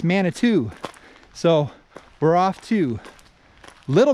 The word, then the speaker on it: Manitou: climb upward i was sitting here earlier it's pronouncing it manito it's not manito it's mana two so we're off to little manitou falls coming